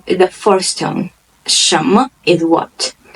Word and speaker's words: 什么: First part of the word, there is a tone, the second tone, rising tone, and it's a neutral tone. And when you're pronouncing it, you don't have to emphasize it as other tones.